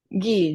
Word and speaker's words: Ghi: And it's Guy, right? Guy, G-H-A.